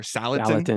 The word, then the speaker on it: Salatin: Salatin.